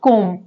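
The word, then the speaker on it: comb: क्लाइम यहां पे है कोम अब कों नहीं पढ़ा जाता यहां पे बी साइलेंट होता है तो पढ़ा जाता है केवल कोम अब यहां पर क्या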